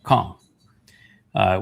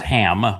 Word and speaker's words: Cham: Cham, which is everybody pronounces it as ham, but it's a C-H-A-M.